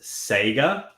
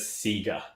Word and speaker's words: Sega: it okay Hugo once they die it's actually pronounced Sega but raelia everyone always says seiga yeah it's either one whatever floats you but